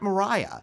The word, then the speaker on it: Maria: called the wind mariah it's pronounced mariah but it's actually spelt maria the song comes from